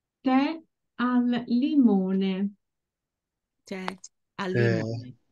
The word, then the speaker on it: tè: Caffè e tè, the accent falls on the last vowel. So the last vowel, whenever we see the accent at the end, is pronounced very briefly. The sound is very brief.